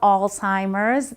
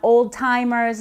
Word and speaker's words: Alzheimer's: And I want to make this clear that when you talk about Alzheimer's, that's how you pronounce it. Alzheimer's, not old-timers, not all-timers. It's Alzheimer's disease.